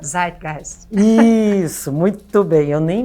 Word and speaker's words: Zeitgeist: Em alemão, como é que é a pronúncia? Zeitgeist.